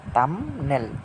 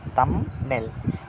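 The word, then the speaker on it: thumbnail: কাটা বি কাটা শুধু এন থেকে শুরু করেছে তামনেল তামনেল এই বিটা কাটা হচ্ছে কেন যদি এটা বায়েল থাকতো তাহলে উচ্চারণ হতো কিন্তু বায়েল না থাকলে এখানে কিন্তু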